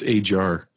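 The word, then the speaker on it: Ajhar: And it's pronounced Ajar. Ajar. And he'll correct you. It's funny. He had to correct me like five times during that class. I call him Ajar because that's what you call him. I know. That's how you say it. I know. I messed you up. It's okay, like he's Brian, like it's a, like a jar of peanut butter or something.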